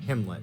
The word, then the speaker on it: Gimlet: a gimlet peanut butter a brand primarily noted for arguments about how to pronounce it according to the manufacturer aligns with kim 'let okay and we've got